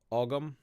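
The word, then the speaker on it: ogham: There is ogum or om, depending. I believe it's pronounced om. I've heard people say ogum, but it's basically the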